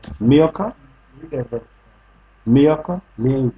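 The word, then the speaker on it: Milcah: And Makah. Pronounce the name. Milka.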